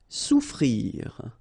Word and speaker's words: souffrir: Souffrir. Okay, so double F is not pronounced. Okay, so souffrir.